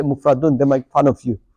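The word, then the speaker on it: مفرد: Okay, so we got mufradun, yeah, mathani, and jam'un. Okay, I'm pronouncing the last bits, brothers. Mufradun.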